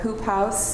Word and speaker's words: Hoop House: We'll start with a really recent project called Hoop House. It looks like Whoop, but it's pronounced hoop.